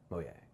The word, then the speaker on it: Mojang: Mojang. Yeah, that's how it's pronounced, if you didn't know that.